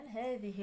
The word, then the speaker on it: هذه: إذا هذه الغابة كثيفة الأشجار. حتى هذه، إذا حنا كنطقوا واحد الألف هذه، إلا هاد الألف هذه ما تنكتبوهاش، فهي تنطق ولا تكتب، إذا تحذف رسما.